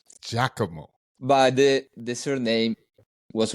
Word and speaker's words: Giacomo: So yeah, the correct pronunciation is Giacomo, Giacomo.